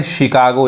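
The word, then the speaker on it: Chicago: और समझ में एक और एग्जांपल देखिए, अब यहाँ पे इसको हम चिकागो नहीं कहेंगे, क्या पढ़ेंगे, शिकागो, यानी 100 पढ़ेंगे यहाँ पे।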